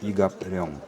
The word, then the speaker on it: 이갑룡: In the late 19th century, a hermit named Lee Gap-ryong lived here. That's the Russian-style pronunciation. In Korean it's Yi Gap-ryong.